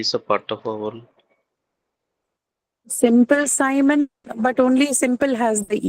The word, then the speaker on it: Simon: should be there in Simon as well. But we're saying Simon, it's I, not E, right? It's written as I using the letter I, but it's not pronounced E. It is pronounced I.